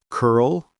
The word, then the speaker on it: curl: Dark L words, L comes at the end of the syllable, pronounced like O. Curl, girl, world, gnarl, pearl, carl, snarl, swirl, twirl.